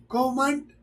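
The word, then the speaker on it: comment: पर जो है ना ये एन टी ये जो है ना साइलेंट है। एन टी जो है ना यहां पर साइलेंट है।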